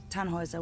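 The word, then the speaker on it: Tannhäuser: why what's your name tanhauser we'd pronounce it tan hoiser with an umlaut german roots yes my grandpa okay how was it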